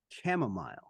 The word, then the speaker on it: chamomile: Chamomile.